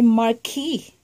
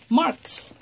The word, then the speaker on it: Marquis: This is the Marquis, and my husband have a friend. His last name the same spelling as this one, but he pronounced it Marks.